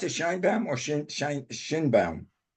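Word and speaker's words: Sheinbaum: or you pronounce it Shine bam or Shin shine Shin bam uh my understanding is shine bam everything I've heard is said shine bam yeah shine bam I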